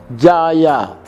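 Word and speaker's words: Djaja: D-J-A-J-A. Ejaan lama. Jaya. Jadi D-Y-A-Y-A. Jaya.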